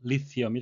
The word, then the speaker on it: lithium: 수소 헬륨에 이어 원자번호 3번에 위치한 알칼리 금속 원소인 리튬의 영어식 발음은 리티엄이 되겠습니다. 15년 징역형을 선고받았다.